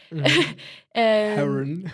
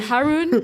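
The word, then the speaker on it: Haroun: his name is harun with an H but I don't pronounce it because I'm French Haron yeah Haron Haron and yeah I highly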